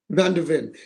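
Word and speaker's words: van de Ven: Am I pronouncing it Van wrong? de Ven. Van der Ven, and he was targeted by Liverpool as well,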